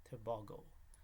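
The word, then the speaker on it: Tebogo: Keyshawn Thompson, Oblique Seville, Fred Curley, and Leslie Tebago.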